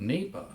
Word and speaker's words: NEPA: and little did I know but the experience even that I had gained as being a law clerk about NEPA as it's pronounced turned out to be